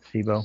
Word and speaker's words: SIBO: This is a little longer one, and it's back to the addressing the SIBO, and is that how you pronounce it? SIBO?